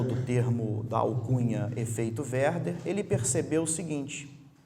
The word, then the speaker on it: Werther: algumas pessoas estão anotando se quiserem anotar a pronúncia correta w é r dhr efeito verba e o que é isso o efeito é